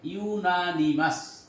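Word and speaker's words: unanimous: জুরি gave জুরি gave, এটাকে অনেকে আনএনিমাস উচ্চারণ হবে, আসলে উচ্চারণ হবে ইউনানিমাস, সর্বসম্মত, সর্বসম্মত, অর্থাৎ সবাই একমত হয়ে রায় দিল।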